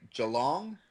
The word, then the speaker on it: Geelong: take away from the geelong do you pronounce it Geelong very long uh they do it more like Joe long oh there you go